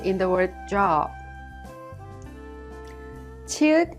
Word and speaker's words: 치읓: 치읓 is an aspirated sound with the burst of air, and it has the CH sound like in the English word chapel.